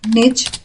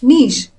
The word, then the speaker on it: niche: There are two ways to say it. You could either pronounce it as niche, which rhymes with ditch, or you could say niche, that rhymes with leash. Both pronunciations are correct.